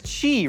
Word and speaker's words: qi: the word is qi, right? As in like the flow of energy that like goes through your body, but it's spelled QI. Like, why does the Q make a ch sound? Why isn't it CH?